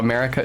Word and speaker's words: Marika: And her middle name is Marika, which is how Marika is actually pronounced.